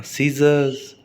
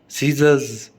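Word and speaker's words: scissors: Scene, Saint, science, है ना, सीजर्स, सीजर्स, सीजर्स, आर नहीं बोला, सीजर्स, साइंस, है ना। तो एस के तुरंत बाद सी आए तो एस, सी को बोलना नहीं है।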